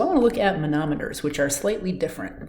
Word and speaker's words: manometer: measurements using a manometer that's not pronounced a nanometer it's a manometer you should be able